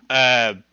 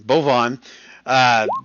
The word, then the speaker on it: Bavon: Bovon. Did you decide? No, you said it right. Bavon is right. You said it right. Bavon. Bavon the Stout. Okay. Yeah, Bavon calling. Think Avon.